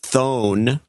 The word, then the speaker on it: Thon: In Lethbridge, Alberta, Canada, wants to mention her husband, David Thon, pronounced Dave Van Thone.